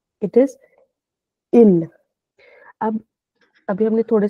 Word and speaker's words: ils: Extra S लगा दिया, तो प्रोनाउंसिएशन क्या हो जाएगी? इल, इल, क्योंकि S उसकी आवाज नहीं निकाली।